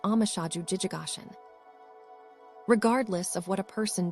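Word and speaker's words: 応無所住而生其心: Engender the mind with no place to abide in our sino, Japanese way of writing. This is pronounced amashaju jijigashin.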